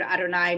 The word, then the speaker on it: Adonai: We as we pronounce these 4 letters with the word Adonai, meaning Lord here, which is often you'll see the English translation.